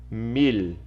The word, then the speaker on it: mil: mil estão em espanhol o mil nós fizemos como como em português né mil só que o l ele é pronunciado então nós vamos dizer mili mili e aí eu coloquei